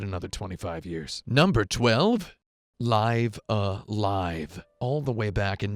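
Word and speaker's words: Live A Live: as episodic, there was Live Alive. I am pronouncing that correctly, by the way. I made sure I looked exactly at the katakana under the name on the Japanese box.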